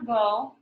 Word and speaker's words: Gogh: The artist Van Gogh, it looks like it's spelled, it sounds Gogh, but it's supposed to go.